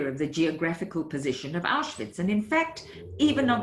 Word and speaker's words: Auschwitz: the geographical position of Auschwitz, and in fact, even of its name, which Lorenzo didn't know how to write, and he pronounced it Swish, perhaps placing it near Switzerland.